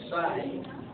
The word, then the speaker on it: PSY: was done by a Korean gra singer named Sai that's spelled PSY and this particular song was so